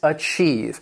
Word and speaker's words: achieve: The first word that I have for you is achieve. And this word has two syllables, and the stress is on that second syllable.